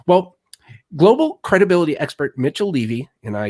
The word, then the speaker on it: Levy: he here today well global credibility expert Mitchell Levy and I say pronounced Levy because of the first time I met him